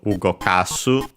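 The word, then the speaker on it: 動かす: Let's check its accent, but it means to move, the transitive verb. Yes, actually it's accented. So ugokasu. Then we change it into its te form.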